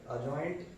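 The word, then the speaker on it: adjoint: लोग बोल सकते हैं, जब भी A और J के बीच में D आता है तो उसको हमेशा साइलेंट रखा जाता है। इसको एडजॉइंट ना पढ़ के एडजॉइंट पढ़ेंगे ना, D साइलेंट है तो अजॉइंट A बराबर, इसको हम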